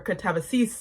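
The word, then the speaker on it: Katabasis: And her newest book that is coming out soon is called Catabases or Katavis as I've heard her pronounce it.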